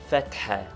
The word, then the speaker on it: fatha: Fatha, to be pronounced with a roughly aspirated ha, which we have indicated